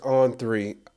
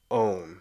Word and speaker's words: On3: live in Kansas, and we pronounce O-N. We pronounce it as own, so we say On3. But I know, like, it seems like the rest of the world pronounces it on. So I've been trying to say On3, which is weird to me.